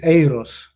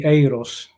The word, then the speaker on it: Eris: eris and it's the way he pronounced it is aeros yeah um because yes